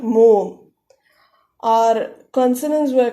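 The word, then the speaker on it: ㅗ: You close your throat and open your mouth and say O.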